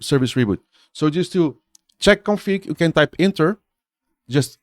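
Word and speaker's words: chkconfig: What you do, in order to enable the service, you use the check config tool. So, but it's spelled funny. It's like the chk config, okay?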